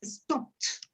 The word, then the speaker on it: stopped: Entonces, la pronunciación es stopped.